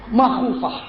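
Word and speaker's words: مَخُوفة: Wa aqibatuhu makhufah bi fathil mim, bacanya makhufah.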